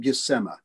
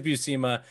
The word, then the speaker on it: Buscema: By the way, he pronounced it Buscema. Yeah, Buscema. And you're right, it is Buscema.